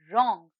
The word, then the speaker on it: wrong: the silent letter here the silent letter is w and the word is wrong here the silent letter